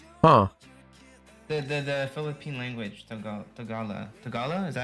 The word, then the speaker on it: Tagalog: Tagalog? Is that how you say it? Tagalog?